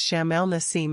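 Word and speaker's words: Sham el-Nessim: First you pronounced it right, Adam. It's Shamal Nasim in Egypt.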